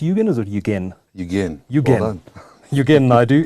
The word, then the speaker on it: Yugen: Now, Yugen, it's pronounced Yugen, or is it Yugen? Yugen.